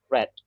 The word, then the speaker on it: read: are using past participle we pronounce it as red not greed wow everyone so have